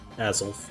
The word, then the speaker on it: Azelf: So, as I said earlier, Azelf, I think that's how you say it. Azelf, yep.